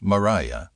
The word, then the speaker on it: Maria: Maria, pronounced Mariah, Underwood and her older